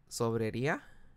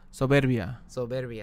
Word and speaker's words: Soberbia: Well, basically the beer I'm telling them to try is called Sobrería. Okay. So, I'm pronouncing this shit wrong. Soberbia, there you go. I knew I was saying it wrong.